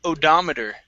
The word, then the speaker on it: odometer: This one here is pronounced odometer. Okay, so our stress is right here, and it's going to be an ah sound.